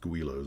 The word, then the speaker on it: Guillow's: And it's pronounced Guillow's, as I understand.